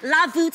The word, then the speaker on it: La Voûte: You're just gonna pronounce it, but with a V, La Voûte, and it's actually the French words for the vault.